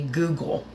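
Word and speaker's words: guggul: are going to be Google g u g g u l and it's spelled just like the search engine pronounced the same way as a search engine Google it's very good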